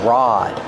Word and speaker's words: rod: We call this a rod. Pronunciation. Use a short a sound like hot and stop.